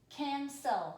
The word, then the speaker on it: cancel: there canceled all right this is saying its second sound it's soft sound can sell make sure yours looks